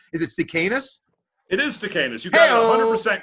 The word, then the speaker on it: Stakenas: I should ask how to pronounce it. I say, is it Stakenas? It is Stakenas.